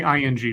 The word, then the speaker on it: Ng: nor numerous occasions indeed I've never been able to quite pronounce the last name ng right it's me you say ing just in okay Celeste Eng Oscar offer I got